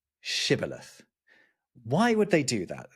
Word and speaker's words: shibboleth: If he say nay, then said they unto him, say now shibboleth. And he said, sibboleth, for he could not frame to pronounce it right.